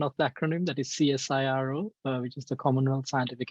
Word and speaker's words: CSIRO: I lead the robotics and autonomous systems group at CSIRO. So for those who are not familiar with the pronunciation of the acronym, that is CSIRO, which is the Commonwealth Scientific and Industrial Research